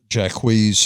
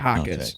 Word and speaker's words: Jaquez: Jacquees had 16 points. Jaime Jaquez. Jaquez? Yeah, Jaquez.